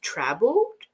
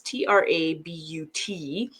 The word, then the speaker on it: Trabut: You could really slap anything on, but the artist is Sylvain, I think it's pronounced Trabot. It's Trabut. He's on Instagram, and he does like this on his Instagram.